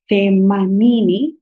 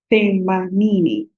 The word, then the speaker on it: themanini: Themanini. Themanini. Sorry. The same way we pronounced thelathini. So this you pronounce themanini.